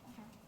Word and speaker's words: Azhar: Is that how you pronounce it, Azhar? Yes, Azhar. Azhar.